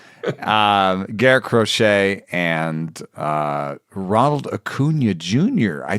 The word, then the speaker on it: Crochet: also paired him with who I call the Rocket because it doesn't rhyme with crochet, but it should. Garrett Crochet and Ronald Acuna Jr.